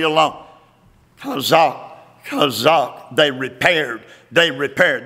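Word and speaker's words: chazaq: Now, that's our old friend, Chazak. It is spelled C-H-A-Z-A-Q, Chazak.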